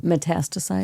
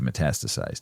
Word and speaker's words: metastasize: Metastasize. Thank you. Metastasize.